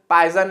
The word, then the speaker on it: Poisson: वैसे इसका exact pronunciation कई लोग इसको पॉइजन रेशियो बोलते हैं, कई लोग इसको पाइजन रेशियो बोलते हैं। वैसे एग्जैक्ट प्रोनाउंसिएशन पाइजन रेशियो होता है, लेकिन एनसीईआरटी ने